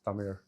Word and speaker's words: Tamil: Tamil, it's not Tamil, it's Tamil. Tamil. Yeah. And ZH is Hmm. pronounced like that.